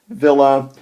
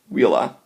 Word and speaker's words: villa: the same exact way Villa although you never pronounce it Villa um being a good student of Latin you will pronounce it Willa um so as if the V were a w that's a real it's